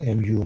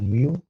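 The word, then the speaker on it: μ: letters so in this case we use mu mu is pronounced mu mu and is the mean of all values in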